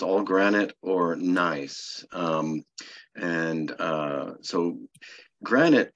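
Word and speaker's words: gneiss: and turn into a nice nice is spelled g-n-e-i-s it's a German word um so good nice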